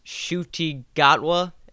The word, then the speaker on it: Ncuti Gatwa: has been announced and it's shooti gatwa i think that's how we figured out you pronounced the name that's a complete shock